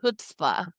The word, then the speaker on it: chutzpah: Because I may mispronounce that last word, but I'm going to say The Book of Annie, Humor, Heart, and Chutzpah Keep going.